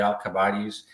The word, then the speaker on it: Alcibiades: we're dealing with the Alcibiades. Right, that's how you pronounce it.